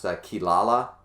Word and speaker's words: Kirara: The R's are pronounced as L's and etc. It's a very common thing in Japanese language.